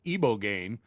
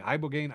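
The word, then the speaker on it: ibogaine: ibo gain which I've now been told is pronounced iboane and they had the president try and pronounce it and he just just kept saying ibogane ibo gain ibane.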